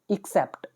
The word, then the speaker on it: except: और जो नीचे ई वाला दिख रहा है, इसका प्रोनाउंसिएशन स्टार्ट होता है अ की जगह ई से, एक्सेप्ट। ये इसकी राइट प्रोनाउंसिएशन है, ठीक है।